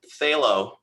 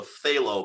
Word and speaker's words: phthalo: way to say it but it's phth which you can't say without a list how do you say phth without a lisp phthalo hello the phthalo hello